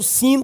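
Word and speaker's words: שׂ: e o ponto estando do lado esquerdo, sin com som de S.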